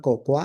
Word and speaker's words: cocoa: So I'll tell you this A is silent. It's not cocoa, it's cocoa, in the processing of cocoa beans.